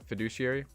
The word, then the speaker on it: fiduciary: I don't know how to say it what fiduciary yeah thank you you only trust especially with